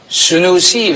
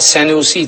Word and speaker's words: Senusi: manevi olarak da da sünusi veya senusi telaffuz farkıyla ona bağlı Ona rağmen